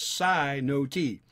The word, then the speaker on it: cenote: we can make sense of this verse a sino-t okay c-e-n-o-t-e it says it's pronounced psi no t is a special kind of sinkhole when the